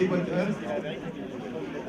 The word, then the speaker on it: D-Boaters: Les déboîteurs. Entre l'anglais qu'il faut prononcer au français, donc les déboîteurs.